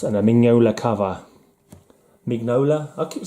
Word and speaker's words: Mignola: no lies a certain Mignola let's pronounce the G it's not like a silent G Rocky's French or something